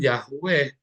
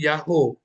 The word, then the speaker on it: YHWH: Jadi kalau ada tulisan YHWH, ya maka bacanya bukan Yahweh. Nggak mungkin jadi Yahweh, akan jadi Yahoo. Karena huruf H yang terakhir adalah perpanjangan dari O yang sebelumnya.